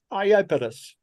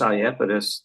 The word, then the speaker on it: Iapetus: Now we come to the Saturnian moon, Iapetus.